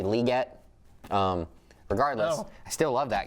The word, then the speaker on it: Legette: And then when you flip it over, I've been saying Xavier Legette's name wrong this whole time. It's actually Legette.